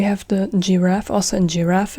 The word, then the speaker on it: Giraffe: a j in English, but in German it's Giraffe, g, Giraffe. Giraffe, guitar is Gitarre. Die Giraffe, die Gitarre. Die Giraffe, die Gitarre. Giraffe and Gitarre, g, g, g, g, a g sound.